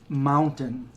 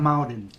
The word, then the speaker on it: mountain: And I'd have to I'd have to pause to actually say it right. Mountain. Not mountain. There's no D in it.